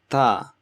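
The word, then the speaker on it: ت: Next you have Ta. Ta is pronounced when the tip of your tongue touches the upper teeth, the bottom upper teeth, and gum.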